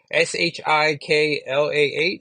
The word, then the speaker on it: Shiklah: But her name is Shelock, or Shiklah? Oh yeah, so it's a prettier name. Shiklah.